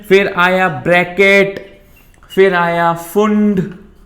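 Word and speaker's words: Pfund: फिर आया पैशन, फिर आया ब्रैकेट, फिर आया फुंड, पी जिसमें साइलेंट होता है, एंड लास्ट इज हमफ्री।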